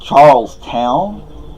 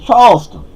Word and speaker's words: Charleston: Like up here, there's a town called Charleston. Well, that's how I say it. That's how my girlfriend says it. But they don't say Charleston up here. They say Charlestown. Like, it ain't Charlestown. It's Charleston.